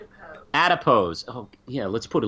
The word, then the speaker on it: Adipose: Alipose? Yeah, I forgot about those. I have no idea. Am I saying it right, Lindsay? No. Of course I'm not saying it right. How do you say it? Adipose.